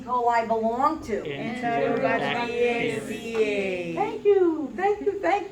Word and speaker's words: Enterobacteriaceae: So just think enterobacteria aceae. Okay. A-C-E-A-E. It's like a Latin ending.